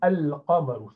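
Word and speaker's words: القمر: So for qamar, moon, you have to pronounce lam, al-qamar.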